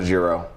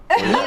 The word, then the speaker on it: gyro: How do you pronounce him? Not a Giro. Gyro.